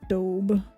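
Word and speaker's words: Staub: I ordered it online belts stab but it's pronounced stob shipping I know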